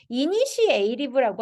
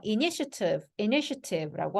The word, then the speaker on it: initiative: initiative라고 하지 않아요. initiative라고 합니다. 그래서 요거 약화됩니다.